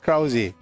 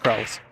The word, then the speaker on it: Krause: It's got an E on the end, so it's Krausi. But I suppose you could pronounce it just Krauze.